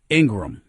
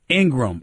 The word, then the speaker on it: Ingraham: the fox news host her last name is ingram even though it's spelt ingraham it's ingram i've been told laura ingraham so my